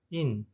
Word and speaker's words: 印: 그럼 발음이 어떻게 됩니까? 인.